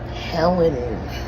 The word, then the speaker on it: Helene: Helene.